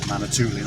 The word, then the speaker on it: Manitoulin: Manitoulin Island.